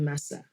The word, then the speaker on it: Masa: with the correct pronunciation to me it looks like Masa but I know there are linguistic and etymological differences here with different accents and things on the word of the little the little fermented and sweetened rice cakes M AA but with different Mark rice cakes yeah how do you but do you just pronounce it Masa in Nigeria we call it Masa Messa yes okay that I mean